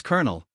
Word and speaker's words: colonel: We pronounce it as colonel.